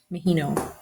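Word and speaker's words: Maheno: Mahino.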